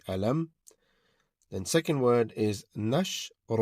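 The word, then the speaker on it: ألم: To start with the first word is alam where memes sound will not be prolongated. So it will be alam.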